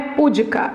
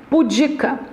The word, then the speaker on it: pudica: pessoa tímida pois é essa pessoa é pudica ela não é pudica ela é pudica a sílaba tônica é a penúltima ele é muito político